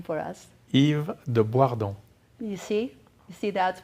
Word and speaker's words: Yves de Boisredon: though I know you eat please will you pronounce your last name for us Yves Dubois don't you see see that's why I messed